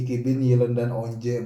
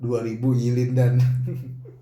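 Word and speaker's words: İki bin yılından önce: Ini Ikibin Yilendan Onje bacanya, bukan 2000 Yilindan.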